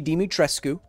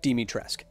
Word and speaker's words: Dimitrescu: thick vampire mama i had written it and pronounced it lady dimitrescu according to what romanian speech is like i was corrected by capcom themselves the company saying no it's don't say it that way say it demitresque so don't blame me it's not my fault